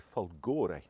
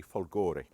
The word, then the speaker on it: Folgore: called the Gali folgore I hope any Italians watching I've pronounced that properly I I just said some swear word because of the way I pronounce it but I look at it and it looks like to me folgori now that with its